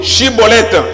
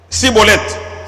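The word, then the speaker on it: Schibboleth: prononce ceci. yo loba boye. Chibolette. Chibolete. Maintenant lui dit ye alobi Cibolette. Cibolete. Parce qu'il ne pouvait pas prononcer Chibolette.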